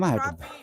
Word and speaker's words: crappie: looks I mean CRA it's not crappy it's crappy Scott said you gonna